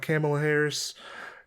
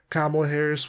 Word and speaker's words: Kamala Harris: a little bit about camel harris kamala harris what the my buddy was like dude you better say her name right kamala harris and also a show